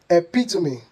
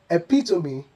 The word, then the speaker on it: epitome: They should be pronounced as epitome, epitome, and hyperbole, hyperbole. The E at the end is pronounced, making these words 4 syllables instead of 3.